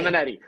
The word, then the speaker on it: Simonetti: Simonetti, rhymes with spaghetti. Simonetti.